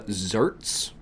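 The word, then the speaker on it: xertz: Uh, zerts spelled like this. X er tzerts.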